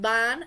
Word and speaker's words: van: the last one we have bon it is pronounced bon not van so please be careful with your